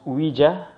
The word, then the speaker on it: Ouija: came here is in fact visa so it's pronounced huija so it's oh you I J a so I'm sure some of you are familiar with the Ouija board or Ouija board you can invoke spirits and all of